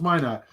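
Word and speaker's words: Minott: That's why he said pronounce it. Why not? So is my not.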